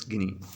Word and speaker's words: Guinea: equatorial guinea or no it's guinea it's not kinah it's guinea okay so it was my you know fault i was pronouncing it wrong only because you may be